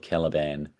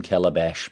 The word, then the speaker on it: Caliban: but I need a little I got his name wrong in my notes I didn't put caliban um I said I need some Calabash background good so caliban is a more lock